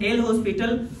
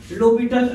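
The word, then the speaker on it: L'Hôpital: locator rule इसको जो ल हॉस्पिटल रूल वे ल हॉस्पिटल मेथड भी बोलते हैं लेकिन ऐसे इसमें लोपिटल रूल इसको बोलते हैं जिसमें हा और एस साइलेंट राहत है सबसे पहले हम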